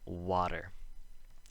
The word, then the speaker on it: water: So let's look at the word water. The vowel sound is emphasized, and the syllable after is not emphasized. Water.